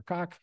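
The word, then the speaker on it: Cooke: Manassas, we get rid of Philip St. George Cook, or Cock, depending on how you want to pronounce his name.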